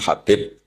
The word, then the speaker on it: Habib: Ada yang nulis Abi Abdurrahman Habib Asulami. Itu di harakatnya kitab itu ada yang nulis khubab. L yang benar. Oh, nggih. Yang benar itu bacanya habib.